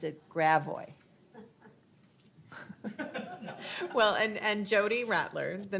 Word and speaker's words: Gravois: Louis, you have to pronounce it Gravois.